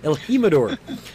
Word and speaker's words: El Jimador: El Jimador.